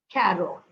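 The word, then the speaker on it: quatre: wheat FR no and carot okay carot it's pronounced as car apply the same rule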